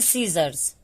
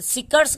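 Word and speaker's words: scissors: इसको हम पढ़ते हैं सीजर्स, सी के बाद एस के बाद सी है तो सिकर्स कहे नहीं पढ़ते हैं, सीजर्स पढ़ते हैं, सीजर्स, ठीक है।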